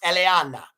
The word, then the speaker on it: Eleana: You guys, you know her name is pronounced Eleana. That sounds Italian, right? But she's not Italian.